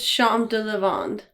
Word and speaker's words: Champs de Lavande: beer maker it is their gin barrel you pronounce that thompson it's shanta levond yeah that's exactly what tom said when when